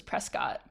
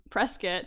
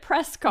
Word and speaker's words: Prescott: be a character from Prescot and he pronounced it Prescott and I was like nope nope see you got to